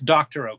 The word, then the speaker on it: Doctorow: So it's Doctorow, Cory Doctorow. Doctorow spelled like doctor with an O-W after it.